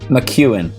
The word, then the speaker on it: McEwen: McEwen? McEwen. Yeah, it's Scottish.